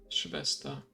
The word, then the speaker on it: Schwester: Schwester. So yeah, in German actually the W is pronounced as a V and the V is an F.